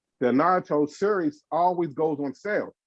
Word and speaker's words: Naruto: Naruto. I always in my head it was always Naruto, but it's Japanese. The Japanese language doesn't really have an R sound.